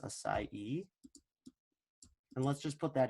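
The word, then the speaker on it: açaí: I was telling you about here acai it's pronounced acai and let's just put that in here real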